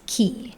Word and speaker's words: ki: energy life force so a lot of people know the the Chinese definition of it which is chi in Japanese it's keyh um and coming